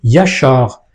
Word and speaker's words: ישר: Lorsqu'on lit ces trois lettres, qu'est-ce qu'on lit ? On lit Yachar.